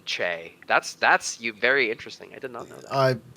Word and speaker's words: Che: no change no Che it pronounces it c h a y j weird I have no I don't think I've ever met anybody who said Che that's that's you very